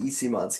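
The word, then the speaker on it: Eyssimont: He also doesn't seem to really love Mikey Isimon's game.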